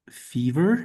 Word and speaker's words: fever: letter in that word, that E is pronounced like the name of the letter E.